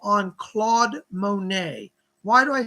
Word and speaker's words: Monet: impressionists were beautiful paintings claude monet m-o-n-e-t but it's pronounced monet he's gonna work with